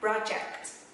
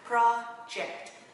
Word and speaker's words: project: Sorry, project. Project. Project. Ok. Nếu là nhấn âm 1 ha. Project.